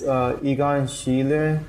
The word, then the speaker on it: Egon Schiele: It's Egon Schiele.